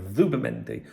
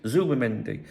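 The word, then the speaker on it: Zubimendi: Um, round here Z like Zubendi other areas Zubmendi.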